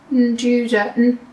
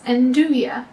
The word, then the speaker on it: nduja: And we're going to be using this vegan Njuda, no, pronounce it right, Njuda? I don't know. Your guess is as good as mine. Njuda. Just did a quick Google search, and it's Nduja, silent J. It's like a vegan version of